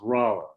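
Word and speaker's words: Rolla: Sometime before 1850, later 1840s, the family moved to Rala, Missouri. It looks like Rola when you see it, but if you live there, you would be pronouncing it as Raa.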